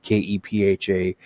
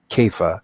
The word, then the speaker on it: Kepha: It really should be probably rendered Kepha, Kepha, but again, that's what happens when you transliterate.